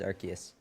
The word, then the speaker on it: Arceus: I kind of prefer Arceus, but it is Arceus.